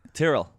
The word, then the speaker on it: Tyrrell: Is that how I say your last name? That's how you say it, yeah. How would you say it? Tyrrell. Tyrrell? Yeah, but you can say... Tyrell is the name of the people from Game of Thrones. Tyrell is the name. That's one. Yeah. That's spelled the same.